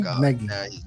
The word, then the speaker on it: Nagy: It's Nagy. Like Peggy, Nagy.